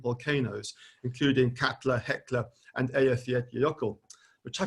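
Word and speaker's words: Eyjafjallajökull: of five different volcanoes including kepler heckler and elf yet yoko which i pronounced correctly hooray that infamous volcano which um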